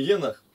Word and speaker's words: Енох: Вот где надо букву здесь, ставить на последнее ударение там, а тут Енох.